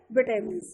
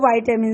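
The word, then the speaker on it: vitamin: For example, fruits and vegetables contain a लॉट of minerals and विटामिन। देखिए students, विटामिन सी बोलते हैं और वाइटामिन सी बोलते हैं, प्रोनाउंसिएशन इसकी दोनों ही सही है।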